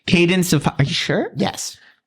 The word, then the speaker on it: Cadence: Cadence of hyru yeah are you sure it's not pronounced CCE cuz it's like you can dance no it's not how it is I I don't know the is that an actual name Candence it's Cadence Cadence is